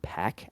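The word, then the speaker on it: Pak: Nick Hardy and John pack actually I'm being told that that's pronounced Pac at number 10 uh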